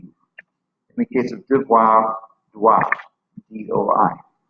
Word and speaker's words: doit: In the case of devoir, doit, D-O-I. Or you could write it D-W-A phonetically, however you so choose.